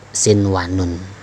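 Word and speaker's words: صنوان: Bacain ya, tulisannya sin wanun, dibacanya tetap sin wanun ya.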